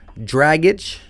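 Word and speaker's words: Dragić: buckets max johnson said gordon's last name is pronounced like draggage shout out to you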